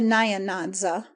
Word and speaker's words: Nyanza: The N and Y are joined in the mouth and never pronounced separately. The Nyanza, it would be nearer the mark to say the Nancy.